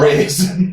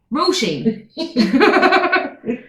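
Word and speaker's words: Róisín: Oh, Raisin. Raisin. We had Raisin was one of the options. Raisin? There's no Rosie fucking A! But can I just say to you lads, it's Roisin. Raisin. Just Roisin.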